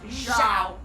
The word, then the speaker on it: Zhao: Again, was whispering in Zhao's ear. Not Zhao. Zhao. That's what I said. You said Zhao. You said Zhao. It's Zhao.